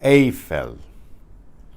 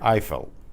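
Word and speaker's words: Eiffel: totally that's tower now watch out for hearing it pronounced differently especially the name of this tower totally atha the Tori a fell not totally a fell we hear it I fell in English which is similar to certain like the German pronunciation of that AI is the same as I but in English I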